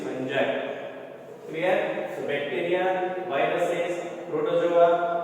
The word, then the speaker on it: fungi: Some students are speaking fungi also. So it is not correct. The pronunciation is fungi.